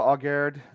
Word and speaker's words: Aguerd: I mean, this fellow Aguerd, that's how you pronounce it, from Rennes.